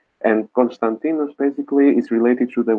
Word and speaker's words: Konstantinos: isn't one yeah yeah so my name is pronounced Konstantinos and or as I have hear